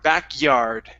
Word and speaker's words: backyard: Here, instead of backyard, give me a good Y sound instead of a Spanish Y. It's back-yard, yard, yard, backyard.